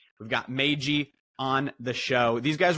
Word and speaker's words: MAYG: my Angry Yakuza girlfriend that's pronounced mag right M we've got mag on the show these